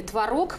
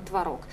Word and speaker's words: творог: меняется след за человеком раньше все говорили творог потому что в каждом в логовом слове должно быть ударение на втором слоге как например сапог пирог соответственно творог сейчас большинство людей говорит творог поэтому Норма вариативная можно говорить и так и так но хотя тенденция идёт